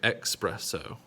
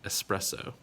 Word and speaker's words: espresso: don't like to drink your expresso because it is an s sound espresso likewise when you're giving